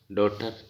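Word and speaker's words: daughter: Honest H का उच्चारण नहीं हो रहा, डॉटर जी का नहीं हो रहा, साइंस, ब्रिज, डिसिप्लिन, डिसीजन और साइकोलॉजी, इनमें इनके अंडरलाइन कर दिए।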